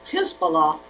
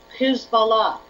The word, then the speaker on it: Hizballah: party Allah of God who's Bala and if you pronounce it or write it any other way you lose that meaning they believe Iran and